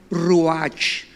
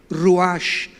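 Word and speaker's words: רוח: espíritu la palabra hebrea ruach tal como suena ruach Roach se pronuncia inmediatamente qué notamos aquí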